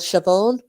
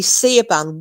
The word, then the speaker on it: Siobhan: Anyway, and I just remember Siobhan, and she went, if that old bitch calls me Siaban one more fucking time.